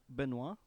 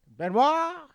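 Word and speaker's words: Benoist: Benoit. Benoit. Okay, I know yeah, Chris probably. Benoit. The film Yeah, 'cause follows the remember ambitious. Chris Benoit.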